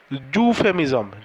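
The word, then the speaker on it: euphemism: consonant sound আসছে ইউ ইউফেমিজমের দেখো এটা আমরা এর যে প্রপার উচ্চারণ জুফেমিজম জু জে ইউ জুফেমিজম এরকম একটা উচ্চারণ আসছে তাহলে এটা কি হচ্ছে কনসোনেন্ট সাউন্ড তার জন্য ইটা একটা ভাওয়েল লেটার হওয়া সত্ত্বেও তার আগে আমরা কিন্তু এ বসাবো তার কারণ উচ্চারণ যেটা আসছে সেটা হচ্ছে কনসোনেন্ট সাউন্ড ঠিক আছে সাতের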